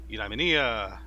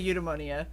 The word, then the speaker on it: eudaimonia: i say it yeah there really is no right or wrong way to say it everybody since the word was conceived is pronounced in many different ways so you can say eudaimonia you pneumonia yeah i